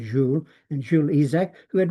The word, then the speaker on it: Jules: He was French, so we pronounce it Jules, and Jules Isaac, who